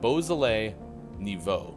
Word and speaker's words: Beaujolais Nouveau: Beaujolais Nouveau now.